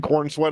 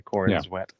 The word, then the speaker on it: Corenswet: Boy, it is, for the record, it is spelled Corenswet. Corenswet. I like to dance with it a little bit and say Corenswet. I think that's good. I think that's what it is.